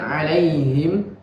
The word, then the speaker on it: عليهم: Kemudian alaihim, a-nya harus ditekan. Alaihim.